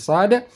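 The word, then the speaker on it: ص: sama cuma membedakannya yaitu letak pangkal lidah naik ke langit langit saat kita membaca huruf sad makanya bunyi suaranya desis anginnya lebih tebal Coba kita tes praktik membaca huruf Shad SH si SH pangkal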